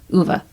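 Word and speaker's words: Ove: last week or so a man called o OA UA that's how you say it I don't know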